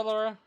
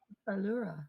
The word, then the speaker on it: Allura: and it bothers me he's saying it wrong so it's okay it's a different name i know it is but still how am i supposed to say it allura allura anything else allura